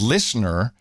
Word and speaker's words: LISNR: But fast forward a few years, the company is called Listener. Of course, you spell it LISNR.